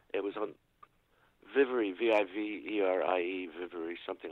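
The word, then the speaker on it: Viverie: How do you spell that? It was on Vivery, V-I-V-E-R-I-E, Vivery, something like Who that.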